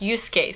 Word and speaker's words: Yusuke: That's pronounced Yusuke, sir.